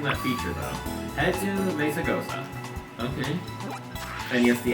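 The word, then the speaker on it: Mesagoza: No, the Z is pronounced as an S because... hold on. Where's Mesagosa? There it is. The Z is pronounced as an S because it's Spanish.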